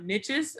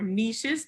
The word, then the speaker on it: niches: A good time to bring up niches or niches, depending on how you like to pronounce it.